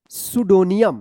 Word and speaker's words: pseudonym: सुडोनियम। क्या पढ़ेंगे? सुडोनियम। यहाँ पे भी पी साइलेंट है, सुडोनियम, सुडोनियम, ठीक है।